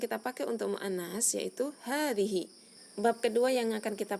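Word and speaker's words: هذه: Yang pertama, kita akan mempelajari tentang isim isyarah hadhihi, yaitu bentuk muannas dari hadza. Hadhihi diucapkan dengan memanjangkan huruf haknya ya, tetapi dalam penulisan baik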